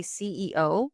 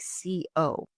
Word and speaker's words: CEO: Now, for the pronunciation tip, when we have things like ROI, CEO, please take your time with the pronunciation. It is really important. I can't tell you the amount of times that I've had people say CEO, but because they're rushing through the letters, it sounds like CO.